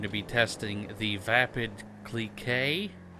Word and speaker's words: Clique: be testing the vapid CLE K I think is how you pronounce it it's CLI qu e but I don't fully